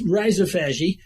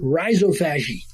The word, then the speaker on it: rhizophagy: I may live in Anchorage, Alaska, but I pronounce it rhizophagy. I'm blunt. Google likes to say, I can't even say how Google says it. Or something. Rhizophagy. They emphasize the O.